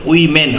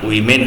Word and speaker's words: women: আর দেখো ওম্যান, WOMAN যখন বহুবচনে থাকবে, মেনের এটা কিন্তু হয়ে যাবে, তখন উচ্চারণ কিন্তু উইমেন হবে, WOMEN উচ্চারণ উইমেন হবে, অর্থাৎ ওম্যানের বহুবচন হচ্ছে উইমেন, প্লুরাল ফর্ম।